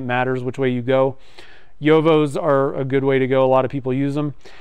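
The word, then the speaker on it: Jowo: thing, are using the Yovo nibs. So it's spelled J-O-W-O, or Bach.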